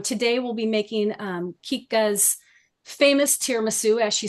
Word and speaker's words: Chicca: to pronounce my name my name is Kika not chika I'm An Architect by